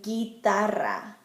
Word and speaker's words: guitarra: If the G comes before a UE or a UI, the U is going to be silent, like in guitarra, guitar, or guerra, war.